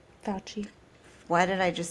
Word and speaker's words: Fauci: um, and complete out our Fosse. Fauci. Why did I just say Fosse? Because that's how it's spelled.